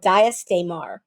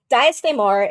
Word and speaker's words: Daes Dae'mar: it's not in English it's called daar which okay H okay I'm gonna tell okay this is a little diastar is uh an old tongue you've probably heard reference to the old tongue in the book right it's an old tongue phrase that means game of houses uh which you don't